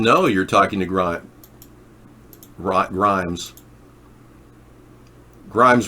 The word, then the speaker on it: Grimes: Grimes rhymes with grime.